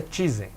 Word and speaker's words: Tizen: Ele disse que a pronúncia correta é Tizen.